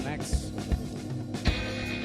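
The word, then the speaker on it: Macks: We are The Max. That is spelled M-A-C-K-S.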